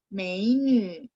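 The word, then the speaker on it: 美女: Masih ingat ya teman-teman, nya bacanya mulutnya dibonyongin ya, menu.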